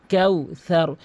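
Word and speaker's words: كوثر: তয়নাকা, তয়নাকাল কাউসার, কাউসার।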